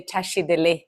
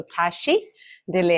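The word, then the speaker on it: བཀྲ་ཤིས་བདེ་ལེགས: So first of all, usually we Tibetans, our greetings, right, is to say tashi dele. So in Tibetan, there are 2 words with 4 syllables. So tashi dele.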